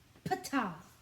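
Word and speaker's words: Ptah: sufficiently shuffled top is the peace island p-t-a-h pata it's cool looking it's got a compass inside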